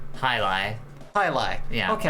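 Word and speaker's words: jai alai: of this is pronunciation hi li hi li yeah okay that's how it's pronounced it's pronounced hi-li or yes or if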